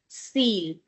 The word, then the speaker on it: Ziel: Because after z, which is z, we have a vowel, so this is going to have z sound. Ziel. Okay? And what is the meaning of Ziel?